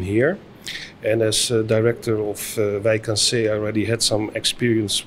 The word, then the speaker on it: Wijk aan Zee: We pronounce it though in Dutch Wijk aan Zee, but Wijk aan Zee is also fine.